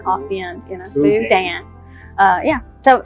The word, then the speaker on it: boudin: Boudin? Right, you have to say it's boudin.